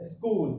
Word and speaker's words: school: आपको से का साउंड लगाना है, ये अलग से ई नहीं लगाना है। स्कूल क्या बोलोगे?